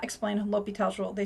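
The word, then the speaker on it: L'Hôpital: concepts are really beautiful this dude l'hopital is french and his name is not hospitals a lot of students mispronounce it but technically it does translate to hospital but please call him l'hopital anyway so there's that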